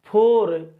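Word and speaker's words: four: जैसे इसको पढ़ा जाता है फोर, इसको फर, और ये फार है मेरे लाल, ठीक।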